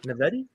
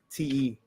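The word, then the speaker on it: naiveté: Naivety? No. Naivete.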